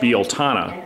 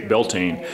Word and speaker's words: Beltane: It's actually pronounced Beltana, but most people say Beltane.